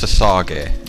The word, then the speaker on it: Sausage: It's pronounced Sasage. Nuno Sasage. That's S-A-U-S-A-G-E. Sasage.